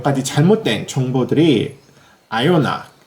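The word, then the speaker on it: Ajona: 아요나 짠크렘을 같이 리뷰해 보도록 하겠습니다. 우리나라에서는 아조나라는 이름으로도 불리우는 것 같은데요. 원래 이름은 독일식 이름으로는 아요나라고 발음이 된다고 합니다.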